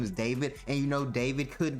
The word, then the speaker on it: D4VD: So, if you don't know what's going on, D4VD, otherwise known as David. That's his streaming name. Song name is D4VD. Pretty stupid, but he says you pronounce it as David.